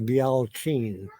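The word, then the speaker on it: Bealtaine: But here, Beltane's pronunciation is actually Bealchin in Irish.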